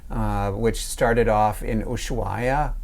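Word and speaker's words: Ushuaia: which started off in ushaa sometimes also pronounced isua and almost call it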